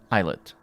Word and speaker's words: islet: end and b triple prime for the islet eyelet detective there may be smaller points in between